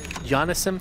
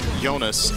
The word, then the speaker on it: Jonas: Why do you read Jonas as Johannes?